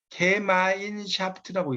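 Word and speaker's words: Gemeinschaft: 자, 거기 가로 안에 이렇게 써놓은 게 이제 이게 발음이 어떻게 되면 게마인샤프트라고 있습니다. 게마인샤프트라고 써놓으세요. 이게 의미. 게마인샤프트가 바로 독일어예요. 독일어. 영어가 아니에요.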